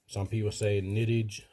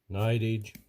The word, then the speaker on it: Nidage: جائزہ لینے والے ہیں کچھ لوگ کہتے ہیں کہ نائٹیج کچھ کہتے ہیں نائٹ ایج تاہم جس طرح سے آپ اس کا تلفظ کرنا چاہتے ہیں اس سے مجھے کوئی فرق نہیں پڑتا تاہم یہ آپ